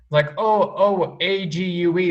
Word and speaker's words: ague: giving you things a-g-u-e that should rhyme with plague right yeah nope it's agu this is my favorite